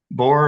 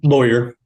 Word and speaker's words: Boyer: thank you chair French Mr bore am I pronouncing that correctly um Boer Boer okay uh Mr Boer